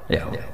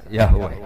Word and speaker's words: Yahweh: Yahweh. Iku nak teng ejaan Latin Y besar, A H besar, W E H besar, Yahweh.